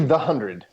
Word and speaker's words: The 100: CW The 100 I we're saying it right this time it's actually the hundred yes in the first season it was we were told it was the 100 and then we have been corrected since yes I think it